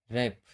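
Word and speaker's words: wrap: ऐसे ही इसका rule number 2 है, अगर आर से पहले डब्लू आता है तब डब्लू साइलेंट होता है। जैसे रॉन्ग, राइट, रैप। यहाँ आर से पहले डब्लू आया हुआ है, इसलिए क्या है, ये साइलेंट लेटर है।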